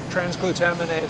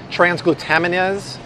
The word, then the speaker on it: transglutaminase: of freaked out about trans glute how do pronounce it again are transglutaminase Thank You transglutaminase that's actually glue usually comes from meat glue